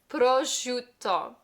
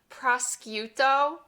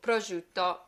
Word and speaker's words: prosciutto: Number 1, this word right here, prosciutto, prosciutto. In English, we say prosciutto, I think. I learned the Italian way, prosciutto. That S-C-I-U, shoe, like shoe a fly.